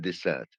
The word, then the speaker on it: dessert: But if I pronounce desert, that means a place. Dessert, that means something we eat. Dessert, dessert. So the pronunciation makes the difference between two words.